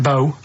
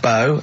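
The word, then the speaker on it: B.O.: It's not pronounced bow and it's not spout bow. Um, who calls it bow? Everyone knows it's b.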